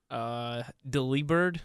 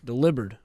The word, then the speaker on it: Delibird: for a Pokemon go I told you how it's pronounced delivered delivered because delivering yeah did you see that